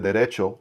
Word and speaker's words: Derecho: I also checked out the Derecho, I'm Hispanic, right? I'm gonna say it right. The Derecho from Sharp by Design.